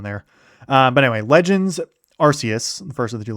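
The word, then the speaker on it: Arceus: And it's basically you're actually transported from present day back in time by Arus or Archus. Actually, I don't know how you pronounce it, but I I think I tend to say Arus, who is basically God.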